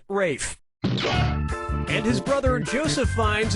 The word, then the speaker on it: Ralph: fein's first name is spelled like ralph but pronounced rafe and his brother joseph